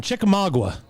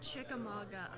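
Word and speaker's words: Chickamauga: So, uh, you are a, um, girl from Chikamagua. Yes. It's actually pronounced Chikamaga.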